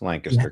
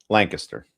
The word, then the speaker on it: Lancaster: That's how you pronounce it in Pennsylvania, by the way. You don't say Lancaster. It's Lancaster County. How did you pronounce it? Lancaster.